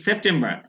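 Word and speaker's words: September: এটা ঘটতে পারে ইন সেপ্টেম্বর সেপ্টেম্বর সেপ্টেম্বর এই আর এর উচ্চারণটা হবে না ইন সেপ্টেম্বর সেপ্টেম্বর মাসে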